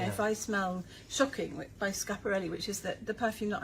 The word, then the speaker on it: Schiaparelli: Can I say on that phrase, I'm so glad you finally taught me how to pronounce what I used to refer to as Schiaparelli. No, Schiaparelli.